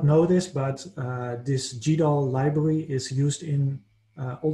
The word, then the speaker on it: GDAL: is something that is called gdal or goodall depending on where you live how to pronunciate it and it stands for